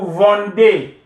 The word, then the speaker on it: vendez: EZ, vous vendez. Il, elle, you add ENT, which is silent.